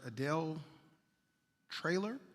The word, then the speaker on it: Adele Traylor: So for the record, it's you got it right, Adele Traylor, Taylor with an R.